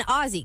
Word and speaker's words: Aussie: And then Aussie, because she's an Australian Shepherd.